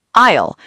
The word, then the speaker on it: aisle: Word two, aisle, a i s l e. The long path between the shelves. Remember, the s is silent.